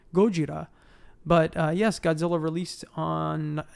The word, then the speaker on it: Gojira: that's very nice yes or for those of you out there who prefer the pure form of the pure pronunciation gojira but yes godzilla released